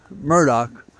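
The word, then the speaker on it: Murdaugh: his name mudro um Murdoch I think that's how it's pronounced it's not spelled that way uh he was seeking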